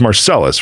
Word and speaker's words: Marcellus: is shaking that's funny your last name is pronounced marcelis right I should have asked